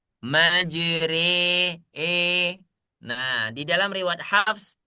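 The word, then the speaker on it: مجراها: Nah, tulisannya majroha. Tapi ketika rya dibaca dia menjadi imalah menjadi e. Majri e.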